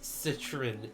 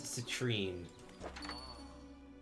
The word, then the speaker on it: citron: I absolutely refuse to pronounce citron as citrine.